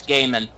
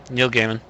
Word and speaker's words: Neil Gaiman: e i m n g EI I long a is it's G okay it's G long a is in base so it's gaimon yeah it's Neil Gaiman I I've been right